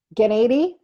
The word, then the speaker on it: Gniady: to pronounce her name, Gniady. Gniady, and Like she's lady gonna, with GN, you know, lady, Lady Gniady, so that way.